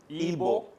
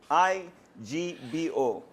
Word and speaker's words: Igbo: Igbo? Igbo. I-G-B-O.